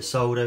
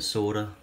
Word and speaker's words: solder: I apologise to any Americans watching, we do call it solder in the UK. I believe you call it solder, even though it's spelt solder.